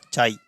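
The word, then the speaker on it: χ: ये क्या होता है, ये ग्रीक वर्णमाला का अक्षर होता है, और इसका इंग्लिश में तो हम इसको बोलते थे चाई, और हिंदी में अगर इसका प्रोनाउंसिएशन करेंगे तो ये आता है काई।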